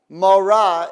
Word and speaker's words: morah: Morah is teacher. Mora rhymes with Torah.